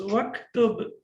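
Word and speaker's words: وَاكْتُبْ: The Hamzat al-Wasl gets dropped. We don't pronounce it.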